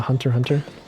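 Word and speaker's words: Hunter × Hunter: family i just know the x is silent like in a hunter hunter yeah hunter hunt they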